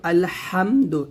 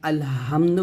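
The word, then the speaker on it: الحمد: আল ফাতিহার প্রথম আয়াতে কিন্তু আলহামদু এই হাটা আছে তো এই হাটা দিয়ে যদি আপনি উচ্চারণ করেন তাহলে অর্থ ঠিক থাকবে সমস্ত প্রশংসা একমাত্র আল্লাহ তাআলার জন্য আর এই হাটা যদি আপনি এই হাতে উচ্চারণ করেন আলহামদু বলেন তাহলে সকল নিন্দা মানে নিন্দার মালিক আল্লাহ তাআলার জন্য এরকম হবে আর কি নাউজুবিল্লাহ তো যাই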